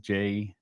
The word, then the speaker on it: JT: It's pronounced JT.